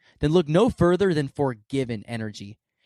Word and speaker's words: 4GVN: Forgiven. That's spelled 4GVN.